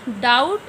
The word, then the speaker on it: doubt: Doubt, B silent.